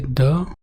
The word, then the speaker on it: the: द के 3 pronunciation हैं. Consonant sounds के पहले द, वाउल साउंड्स के पहले दी, और दी की स्ट्रॉन्ग फॉर्म है दी.